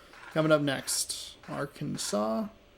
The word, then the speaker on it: Arkansas: be watching Dayton in Arkansas coming up next Arkansas why are you not pronounced AR Kansas the Flyers and the